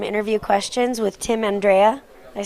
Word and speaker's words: Andreae: Andreae, you know, it's like instead of Andrea. But Andrea is the way that my parents pronounce it.